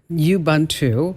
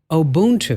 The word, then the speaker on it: Ubuntu: Linux I believe um it's not Ubuntu it's not you uh how else would you say that one wrong uh you bun two or oh oh Boone two oh Boone two Ubuntu yes and this one is Ubuntu yes so if you